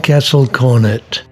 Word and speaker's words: Castle Cornet: the historic castle cornet yes guernsey people pronounce it the english way it's nate's favorite place